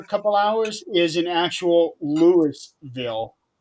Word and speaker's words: Louisville: Louisville, but it's actually they over there they pronounce it as Lewisville.